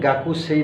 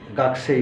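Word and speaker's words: 学生: cook সেই তো কুটা বলার সময় গাকুসেই না বলে ওরা সরাসরি গাছেই বলে কিন্তু গাকুসেই বললে কিন্তু ভুল হবে না কারণ আসলে উচ্চারণ কিন্তু কু কিন্তু বলার সময় কুটা খুব তাড়াতাড়ি বলে গাকছে গাছে গাছে যার কারণে লেখার সময় কু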